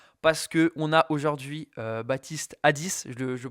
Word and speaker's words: Baptiste Addis: Parce que on a aujourd'hui Baptiste Hadis, je le prononce bien, ça va?